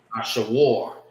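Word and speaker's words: אשור: Ashawar is how you say Ashur in the Hebrew.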